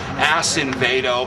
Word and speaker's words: Acevedo: I want to make sure your viewers understand the correct pronunciation of his name because he's sodomizing us all. Acevedo.